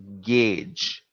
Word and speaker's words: gauge: meters in your laboratories it is gauge not gorge not gaugi it is gage g-a-u-g-e is gage repeat after me gauge